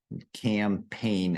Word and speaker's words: campaign: Campaign. And yeah, make sure you don't try to pronounce that G in there. That G is completely silent.